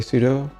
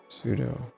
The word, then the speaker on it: sudo: A large portion of the community pronounces it as sudo. According to it's sudo sudu sudu. Oh my god, this instructor. Sudu into shell. Sudo into root. Sudo. Sudo is the original intent. Pronunciation command. Super user do.